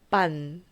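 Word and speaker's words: pan: 스페인어로는 빵이 빤입니다. 빤, 빵. 차이 아시겠죠?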